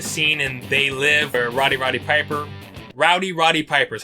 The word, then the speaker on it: Roddy Piper: influenced by the scene and they live or rowdy roddy piper Rowdy Roddy Piper's how you say it where